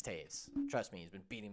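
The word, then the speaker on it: Toews: patrick kane and jonathan toes his name is taves by the way i know his name is taves it's spelt toes and i [ __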